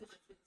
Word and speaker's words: Odysseus: I hope I'm pronouncing that right, right? Odysseus? Yeah, it's Odysseus.